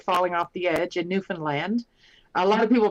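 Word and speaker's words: Newfoundland: in Canada without falling off the edge in newfinland a lot of people pronounce it New Foundland but it's uh natives call it newfinland um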